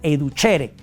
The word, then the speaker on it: educere: Tenemos la otra raíz, perdón, etimológicamente hablando, que es educere, que se pronuncia educhere.